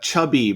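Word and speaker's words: Csabi: Yeah, that's pronounced Chubby, by the way.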